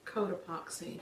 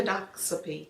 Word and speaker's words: Cotopaxi: She grew up in, oh God, I hope I pronounce this right, Cotopaxi, Colorado. 3 hours outside of Denver. Cotopaxi. Population. Codoxapy.